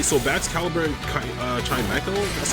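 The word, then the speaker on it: Chimecho: Okay, so Bax Caliber and uh Chimeco, that's how they pronounce it.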